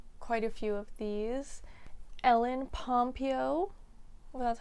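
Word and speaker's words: Ellen Pompeo: I didn't know quite a few of these ell pompo that's how you say her name uh Meredith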